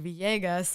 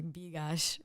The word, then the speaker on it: Villegas: And the pronunciation instead of Villegas, which I thought was what I was writing, was actually Bigash.